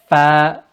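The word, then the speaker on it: ف: And then we have the letter fa with the lip, not with the tongue. Some people do it with the tongue, with the lip. Fa, fa, not with the skin here. Excuse me, not with the skin here, but on the lip.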